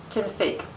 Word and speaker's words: Génifique: Génifique. Yeah, that's right. For some reason, I went blank on how to pronounce it.